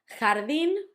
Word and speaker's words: jardín: Jardín, garden, had the accent at the end and it also had the h sound, ja, although h, the J always sounds h.